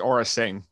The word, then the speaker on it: Aura Sing: I believe, I don't know how to pronounce her first name, Aura? It's Aura Singh.